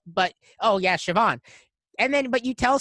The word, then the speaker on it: Siobhan: someone my name is siobhan it's not spelt siobhan yeah here like that's not how it doesn't sound like how it's spelt but oh yeah siobhan and then but you